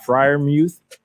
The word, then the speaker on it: Freiermuth: All right, at the 209, I got Pat Freiermuth, tight end out of Penn State.